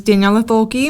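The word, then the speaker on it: Daniela Thoelke: out what's your youtube so my youtube is daniella toki my name i don't have a special name can you spell that so it's d-a-n-i-e-l-a and then my last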